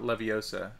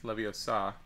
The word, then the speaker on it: Leviosa: says when Guardium Leviosa which is how you pronounce it it's not Leviosa it's Leviosa but you have to swish and flick and